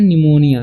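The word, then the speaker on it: pneumonia: ठीक है तो इसे पिनोम नहीं पढ़ना है इसे पढ़ना है निमोनिया ठीक है पी का उच्चारण यहां पर नहीं होगा तो इसे पढ़ेंगे हम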